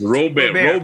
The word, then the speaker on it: Robert: The correct pronunciation is Robert like Colbert.